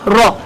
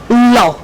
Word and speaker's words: law: mrud point of correction it is not raw it is called law failing to pronounce my profession